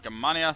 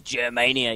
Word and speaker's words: Gamania: me I was like oh it's Germania you know something like Mania but it's gmania I know like gmania s like it's I